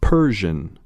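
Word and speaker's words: Persian: پر پژن پژن پژن پرژن به نحوه تلفظ دقت کنید صداییست بین او و ا گوش دهید و تکرار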